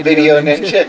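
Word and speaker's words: VDO.Ninja: uh what's it called video Ninja yeah video Ninja it's got PD because that's how it's spelled is VD ninja they did it not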